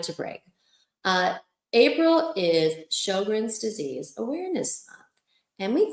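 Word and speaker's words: Sjögren's: Okay, so with April being and by the way, it is pronounced show grins. Like show your grin.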